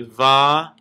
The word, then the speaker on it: Vayikra: so the first letter in so this words VRA okay say it with me VRA and phonetically it is VA a y a k